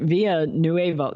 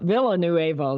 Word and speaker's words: Villanueva: say his name right via nueva villanueva excuse me via new evil if you're spanish speaking